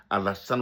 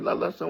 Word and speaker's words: Alassane: C'était très difficile pour lui de dire Alassane Ouattara. Il dit Allah, Allah, Allah, Allah, the son, Ouattara, Ouattara.